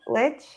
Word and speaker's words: lich: Jacko Nunn, NFT Flex Time for the Algo Hour with IRL is a custom Big Daddy Leech. Lich. How do you say it? Lich.